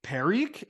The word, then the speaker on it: Peric: And on that team was Zane Peric. Am I pronouncing that right? Yeah, he was underage on our team.